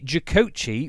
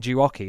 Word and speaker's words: Jucoci: I have ordered myself the jakochi which I don't know why but for some reason no one else on the internet can seem to say it right. Everyone's saying jaki and there's two C's in it.